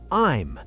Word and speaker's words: I'm: We join I and am together to make I'm. It sounds like the word time, but without the t sound.